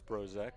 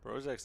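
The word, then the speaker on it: Zbrozek: That one is silent. It's Z B R O Z E K, Brozack. And Brozack who popped out to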